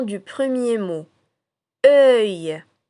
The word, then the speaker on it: œil: Œil. Œil. Alors si on décompose le mot œil, on aura deux syllabes caractéristiques. La première syllabe comme dans le mot heure et la deuxième comme dans le mot taille.